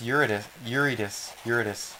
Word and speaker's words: Eurydice: Yuri Dice. It's Eurydice.